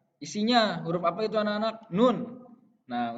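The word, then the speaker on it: نون: Nun. Nah, untuk pelafalannya harus jelas. Nun. Lidah di bagian atas. Mau ke gigi seri.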